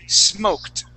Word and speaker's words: smoked: the chat box now when we have an ed ending we don't pronounce that e we don't say smoked we say smoked I apologize this should be with a t and not a a d sound so smoked that D